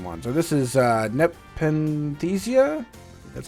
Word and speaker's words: Nepenthesia: So this is uh Nepenthesia.